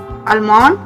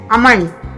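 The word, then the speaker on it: almond: आलमंड ये गलत है, सही क्या है? अमंड। अमंड। अमंड L silent हो जाएगा, तो ये क्या बनेगा?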